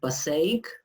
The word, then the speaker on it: Passaic: Okay, before we start, I have to thank Byzantine Catholic Eparchy of Passaic. Is it right? I don't know how to pronounce.